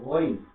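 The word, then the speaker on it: غين: তারপরে গইন, গলা ঘষে গইন উচ্চারণ করতে হবে, গইন।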